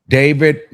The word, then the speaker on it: d4vd: David pronounced uh D4 VD pronounced David gained popularity among Gen Z fans for his blend of indie rock, R&B, and lo-fi pop.